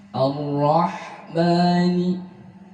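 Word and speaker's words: الرحمن: Ar-Rahmani, yang harus hati-hati, a di sini Ar-Rahmani tetap dibaca tipis, tidak boleh tebal. Meskipun menghadapi ra yang dibaca tebal, bukan Ar-Rahmani tapi Ar-Rahmani, Ar-Rahmani, tipis.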